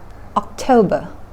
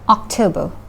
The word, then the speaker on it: October: อ ก เ สี ย ง ว่ า October น ะ ค ะ เ น้ น ที่ พ ย า ง ค์ ที่ 2 เ ห มื อ น กั น October พ ฤ ศ จิ ก า ย น